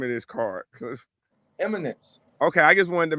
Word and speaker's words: Eminence: First of all, how do you pronounce the name of this card? Eminence.